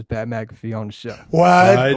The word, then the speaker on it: Wydoe: Wide. Wide. I think so. That's what he said.